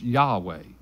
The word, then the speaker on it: Yahweh: some vowels with those consonants and we put why aah weh and it's pronounced Yahweh and so hallelujah is a combination of halal